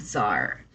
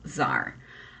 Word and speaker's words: czar: appointed a new drug Zar the education housing or Terror terrorism Zar I have never seen the word Zar how we spell it here c z a r in the United States